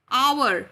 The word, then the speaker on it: hour: So starting with O, O, hour, O-U-R, hour. right? So the pronunciation is our. So it's starting with a vowel sound O.